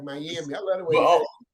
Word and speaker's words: Miami: Yeah, the first time, like you said it like a Cuban. The second time you said it right, Miami.